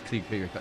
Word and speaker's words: Kyriakopoulos: And our Greek name there, if you can pronounce that one again. Kyriakopoulos. Yes, Kyriakopoulos.